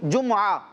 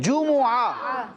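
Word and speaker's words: جُمُعَة: اچھا اردو میں اس کو پڑھ رہے ہوتے ہیں جمعہ, جمعہ, ٹھیک ہے. لیکن قرآن مجید میں یہ جو کلمہ آیا ہے تو وہاں اس کے درست تلفظ کیا ہے, جمعہ. جیم کے اوپر بھی پیش ہے اور میم پر بھی پیش ہے.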